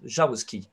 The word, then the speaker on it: Jaroussky: Oh, it's a Russian name, but it's, we can get the French pronunciation. It's Jaroussky, yes.